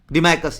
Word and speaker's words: Deimachos: Spelling लिख लो इसका आप, DEIMACHOS, डिमाइकस, ये किससे आया था, किसी कोर्ट में आया था, ये आपके बिंदुसारा के कोर्ट में आया था।